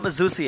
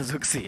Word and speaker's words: Zusi: Zusi ya, bukan Zuxi ya. Iya. Zusi. Agak itu bedanya double S sama double X.